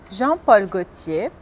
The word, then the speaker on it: Jean-Paul Gaultier: Então, as palavras são, e a pronúncia correta é Carrefour, Paco Rabanne, Jean-Paul Gaultier, Lacoste, Lancôme, Chanel Eau Tendre, Citroën, Peugeot, Renault.